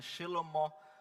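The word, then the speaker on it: שלמה: O rei Salomão, da mesma forma, que o nome dele eu não sei pronunciar, tá? Mas é Shelomó.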